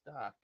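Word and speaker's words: DAK: not wrong D AK that's my initials but it's pronounced doc okay doc thanks for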